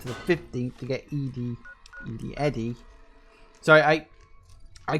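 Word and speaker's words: ED-E: And we've got to go up to the 15th to get Eddie.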